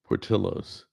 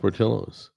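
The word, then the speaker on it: Portillo's: It's pronounced portillos. It's It's pronounced portillos.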